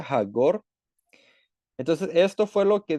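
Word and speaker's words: חגור: Así es como se escribe en hebreo y como se pronuncia hagor.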